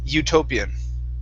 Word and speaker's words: utopian: utopian right here so instead of utopian it's you utopian utopian okay very nice next is